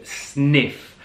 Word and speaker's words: Sniph: exactly what it is the brand itself is called sniff and that is spelled SN I pH and the branding I'm